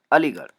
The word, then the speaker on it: अलीगढ़: क्योंकि उसका उच्चारण हमारे मुंह से निकलता है, इसकी वजह से। अलीगढ़, तो ली ग र।